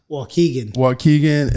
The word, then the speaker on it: Waukegan: Waukegan, Illinois.